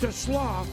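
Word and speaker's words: TeSlaa: It spelled like Tesla, but it's to Slaw.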